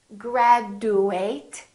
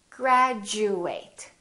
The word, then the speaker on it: graduate: picture this also happens when a d is followed by a u this change also happens however it's slightly different instead of saying chew it sounds like we're saying jew for example we don't say graduate it sounds like we're saying graduate repeat after me graduate graduation